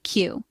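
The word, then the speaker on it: queue: When you say it out loud, it's pronounced exactly like the letter Q.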